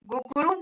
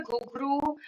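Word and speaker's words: घुंघरू: अशुद्ध अशुद्ध शब्द गिरधर नागर गुगुरु नारायण। शुद्ध शब्द इसमें होगा गिरधर नागर घुघरू नारायण कठिन निवारण शब्द बावरी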